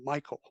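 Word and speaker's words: Michal: Because it's spelled M I C H A L. Michael.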